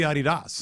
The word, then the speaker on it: Adidas: It's kind of like Adidas, but like you know what, like it's supposed to be Adidas Dasi Dosler.